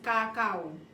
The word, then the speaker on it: kakao: You see, you pronounce C, we pronounce K. So ours is kakao.